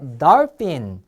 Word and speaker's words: dolphin: 그 다음에 dolphin. 자, 이것은 돌고래입니다. 요 PH도 F 발음이 나요. 앞에서 배운 거 F.